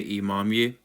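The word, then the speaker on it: имамы: So there is one particular vowel that we do not have in English whatsoever. We don't even know how to pronounce it. Most English speakers struggle with it in Russian.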